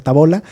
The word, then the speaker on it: Tabola: Ah sí sí comentaron de la tabola que yo le decía tábola y luego me di cuenta que no tiene acento entonces pues sí debe ser tabola eh la pizza de